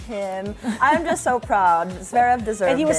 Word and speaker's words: Zverev: How do you pronounce his name? Zverev. Zverev.